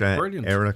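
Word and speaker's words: Eyra: and one to watch era collective and they spell that E R. Yes. Okay. So it might sound like era as in E I R E, but it's E Y R A if you want to search that.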